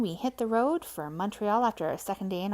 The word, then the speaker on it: Montreal: leg of the trip, which was Montreal, or Montreal if you're from there, but don't say it like that in front of them, they get upset.